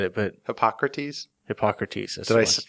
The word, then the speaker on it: Hippocrates: Hippocrates. Did I pronounce it right?